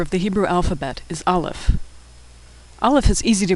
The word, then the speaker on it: Aleph: Aleph is silent.